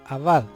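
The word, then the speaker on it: עבד: hebreo de la palabra abad se deletrea a jean veil dale así se pronuncia así como se escribe era originalmente una figura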